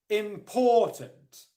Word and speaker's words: important: But then there's a second level of stress, which is not as stressed as poor, but it's still stressed. And that's the first syllable, im.